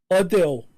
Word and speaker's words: Adele: Anyway, let's move on to Adele reveals we've been pronouncing her name wrong. So apparently, this is just... Where's she from? Because... Essex. What? Essex. Essex. So apparently we should be calling her Adele.